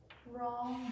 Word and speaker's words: wrong: Wrong, W silent.